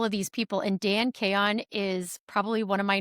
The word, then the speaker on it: Chaon: these people, and Dan Kayon is probably one of my new favorite people on Instagram. He is hysterical. Like, you should go follow And him. his last name is spelled Chaon if you're going to